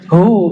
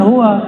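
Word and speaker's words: هو: Ya, hu, bacanya hu, jangan huwa, kecuali disambung.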